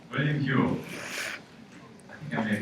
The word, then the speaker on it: Whewell: Yes, Whewell, William Whewell.